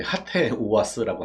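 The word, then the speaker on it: HATEOAS: 스프링부트 관련해서는 제가 이게 발음 잘못하면 헤이트가 돼버리니까 이제 하테오아스라고 할게요.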